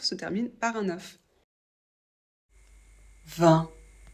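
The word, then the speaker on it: vingt: termine par un uf 20 I et n ça fait le son 1 le G on ne le prononce jamais le T vous pouvez choisir de le prononcer tout le temps sinon de le prononcer seulement pour faire la liaison donc quand le mot suivant commence par une voyelle et vous devez le prononcer quand le chiffre 20 est accompagné d'un autre chiffre comme par exemple 22 maintenant je vous propose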